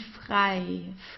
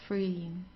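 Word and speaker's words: frei: it's easy or light and fry fry is free okay fry so it's not fre or so it's I okay the next page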